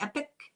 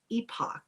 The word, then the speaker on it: epoch: Before I get started, I want to thank a channel called the epic No, I that pronounced that wrong. It's not E.P.I.C. It's epoch. E.P.O.C.